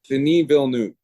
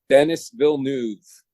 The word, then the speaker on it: Denis Villeneuve: I'm horrible with pronunciation. Denis Villeneuve. Denis Villeneuve. No, Denis Villeneuve.